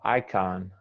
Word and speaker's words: icon: i don't know uh icon icon icon you're saying that khan more like a u but it's a ah um let me think